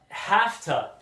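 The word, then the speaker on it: hafta: time next word uh half tub and if you were to write have to you would spell it either h-a-v-a or h-a-v-t-a or h-a-f-t-a but it's not a real word so we usually and uh we usually wouldn't write it anyways but this means have to okay so for example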